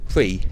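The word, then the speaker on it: Prix: it looks but but it's pronounced free it's a French word 13 this is the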